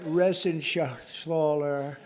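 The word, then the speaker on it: Reschenthaler: You know that Resenshaw. That's actually the way you pronounce it, you know. Nobody else gets it right.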